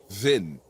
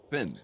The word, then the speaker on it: Hven: Vin, yeah. Vin, So, H-V-E-N, Vin. We tend to say it comes from the old Norse. It's Heaven Island. So it's a silent H actually in Swedish, but Heaven Island.